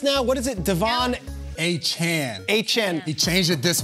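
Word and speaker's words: Achane: Shout out to Dolphins PR guru Ann Nolan, who chimed in with Jason during the break saying it's Achan now. Devon Achan.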